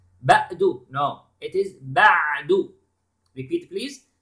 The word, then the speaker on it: بَعْدُ: Then بَعْدُ. Notice to the عَيْن letter. Okay. It is عَيْن, it is not Hamza. بَعْدُ. No, it is بَعْدُ. Repeat please. بَعْدُ.